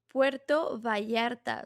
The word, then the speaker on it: Puerto Vallarta: Puerto Vallarta. So it It's pronounced as Vallarta, but it's with double but L.